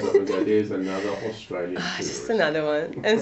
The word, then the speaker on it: Australia: Australia. Australia. Oh. A U. You have to pronounce them all, don't you?